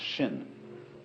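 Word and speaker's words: 心: please pacify my mind in Chinese mind is um this word pronounced shin and shin is here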